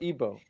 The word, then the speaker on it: Igbo: You have the Igbo people or Ibo pronounced.